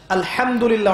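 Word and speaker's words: الحمد لله: এখানে যে হা আছে এটা কি বড় হা না ছোট? হুত্তি না হাওয়াস? হায়ে হুত্তি, এটাকে বলে বড় হা। উচ্চারণ কোথা থেকে করতে হয়? মাঝখান থেকে। মাশাআল্লাহ।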